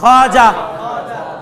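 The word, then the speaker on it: خواجہ: দেখেন তো আগে খ আছে, এরপর আলিফ আছে, তাহলে ওয়াওটা কি? ওয়াবে মাদুলা। উচ্চারণ কি করবো? খাজা। কি উচ্চারণ করবো? আপনারা খাজা করতে জানেন ফার্সিতে, উর্দুতে কি? খাজা। উর্দুতে খাজা, খাজা, খাজা এভাবে না, খাজা।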